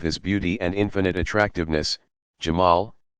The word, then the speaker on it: Jamal: beauty and infinite attractiveness, Jamal, pronounced Jamal.